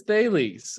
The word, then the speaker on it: Thales: Is it Thales? How do you guys pronounce it? It is Thales.